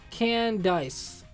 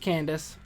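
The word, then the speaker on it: Candice: protagonist joining C tier can dice I know it's pronounced Candace I'm making a point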